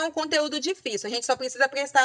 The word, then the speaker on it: difícil: Difícil. Difícil, sílaba tônica é a segunda de trás para frente. Então, ela é uma paroxítona. E é uma paroxítona terminada em L. Então, lembrando a regrinha do roxinol.